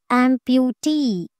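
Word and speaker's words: amputee: ఆంప్యూటీ. ఆంప్యూటీ. సో ఈఈ అనేది టీని కలుపుకొని పోతుంది అనమాట. ఆమ్ ఇస్ 1 syllable, ప్యూ ఇస్ 2 syllable, టీ ఇస్ 3rd syllable. సో టీఈఈని stress చేసి ఇక్కడ మనము స్ట్రెస్ మార్క్ అనేది మార్క్ చేయాలి. సో టీఈఈ మీద మనకి మార్క్ అనేది ప్లేస్ అవుతుంది.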